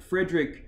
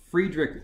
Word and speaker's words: Friedrich: to us in fact frederick nietzsche friedrich nietzsche that's the proper pronunciation german philosopher late 1800s